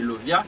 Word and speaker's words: Lauviah: pas là, chérubin que n'a pas là, c'est Lovia qui s'écrit A L A U V I A